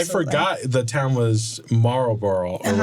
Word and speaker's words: Marlboro: You don't really say like, Boro? Yeah. You don't really say that part.